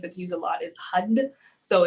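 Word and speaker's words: Har: used a lot is hud so it's print like it's written out as h a r but it's pronounced hud so you want to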